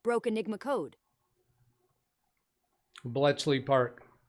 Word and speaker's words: Bletchley Park: Martin Hogg said Colossus at Bleckley Park broke Enigma code. Bletchley Park. Yeah, Speaker Bot pronounced it wrong, didn't she? I believe that's Bletchley.